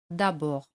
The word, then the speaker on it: d'abord: D al final no se pronuncia. D'abord.